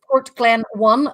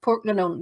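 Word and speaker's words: Portglenone: So if you ever see anywhere that says Port Glen 1, that's actually pronounced Port Glenone.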